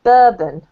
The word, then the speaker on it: bourbon: This word here is the only word that was slightly tricky for you, and this is actually pronounced bourbon. Bourbon.